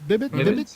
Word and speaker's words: Bibbits: Bibbits, yeah. Bibbits? Yeah. Is it hard P, soft P? No, I'm just. Yeah. Hard. It's a bad joke. Hard B.